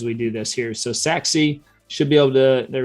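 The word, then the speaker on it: Sachse: so all right so now we're taking a look at saxi here and yes that's how it's pronounced is saxi and you can see the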